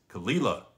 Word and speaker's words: Caol Ila: which is where it's located but it is kalila ko think of this c well co e